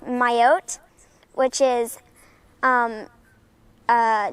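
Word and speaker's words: Mayotte: even heard of like I believe it's pronounced myotee which is um um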